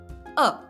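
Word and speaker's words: आ: Next is A. A is pronounced as the pronunciation of A in the word father or fa.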